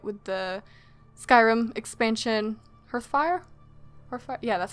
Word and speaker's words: Hearthfire: Hearthfire? Yeah, that's how you pronounce it.